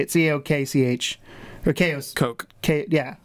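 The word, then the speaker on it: Koch: Coke. I'm assuming like it's Coke. Like the Coke brothers, yeah.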